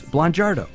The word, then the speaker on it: Blangiardo: a family with Blangiardo. Did I get that close? Blangiardo. The I is not pronounced.